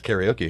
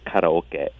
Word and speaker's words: karaoke: that I guess that's karaoke here right yeah karaoke karoke and in Japanese it's karoke which is a contraction for kest meaning empty Orchestra well look at that